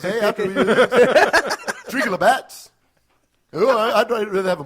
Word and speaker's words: Labatt's: Hey, we'll go to Tim Hortons, hey, after we drink a Labatt's. Oh, I'd rather have a Molson. I love how you say Lebeck's. Like, that's literally how they say it up Yeah.